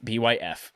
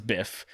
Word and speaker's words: Byf: There's a guy on YouTube called My Name is Byf, B-Y-F. He pronounces it Byf, but it's Biff. But he says Byf.